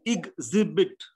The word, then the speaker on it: exhibit: That is how it's pronounced. Example. Yes, sir. And it is exhibit.